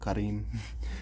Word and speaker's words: Kareem: kareem and um uh i i feel like i have to say his name correctly karim um and um a